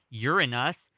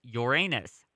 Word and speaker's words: Uranus: It could be pronounced either Uranus or Uranus, both of which open up endless possibilities for potty humor.